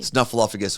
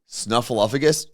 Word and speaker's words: Snuffleupagus: Oh yeah, I was saying fluff, like Snuffleupagus. I was doing fluff twice.